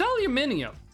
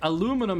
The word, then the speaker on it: aluminium: No, it's aluminium. Aluminium is what it's called. Aluminum is how Americans say it.